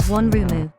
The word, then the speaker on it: ワンルーム: The term one room in Japanese is often written in katakana as onrumu, which is pronounced as onrumu.